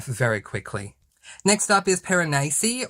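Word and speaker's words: Piranesi: quickly next up is paranasi or it's written as per annesi but I believe it's pronounced paranese by Susanna Clarke this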